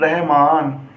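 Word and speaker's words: رحمان: अब आप इसकी हिज्जे करो, रे और हे रह, मीम अलिफ माँ, नून साकिन रहमान।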